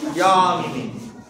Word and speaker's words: যামিনী: আর এটা যেহেতু সংস্কৃত শব্দ ইয়ামিনী, তখন আমরা এর উচ্চারণটা করব ইয়ামিনী।